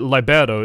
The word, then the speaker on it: Libero: You pronounce it libero, it actually means free.